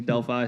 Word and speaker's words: Delphi: And if it helps, I've been calling it Delphi digital all this time. So, I only now realize that I've been mispronouncing that my whole life. So, Yeah, we had a couple of early employees who joined who used to run with that, and we tried to cut it, but now there's two different worlds of pronouncing Delphi, so we kind of accept both. So Andre, for those who